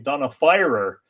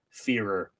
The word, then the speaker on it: Fearer: I learned a couple of days ago that Donna, whose name I've been pronouncing Donna Firer for months and months and months now, is actually pronounced Fearer.